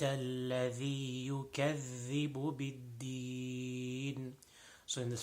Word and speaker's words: الذي: The second word, الذي, أرأيت الذي, most common mistake in this is the dhal. Dhal is not pronounced properly, so tip of the tongue and tip of the upper two front teeth.